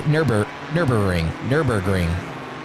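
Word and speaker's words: Nürburgring: Say Burger King, then say Nurburgring.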